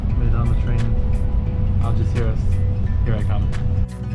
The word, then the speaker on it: Algeciras: To Algeciras, or Algeciras as it's pronounced properly, and I can like barely contain my excitement.